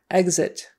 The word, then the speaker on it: exit: The X in that particular word, it's not a KS sound. It's not exit. Exit. We don't usually say it with a KS. Exit. We usually say it with more of a GZ.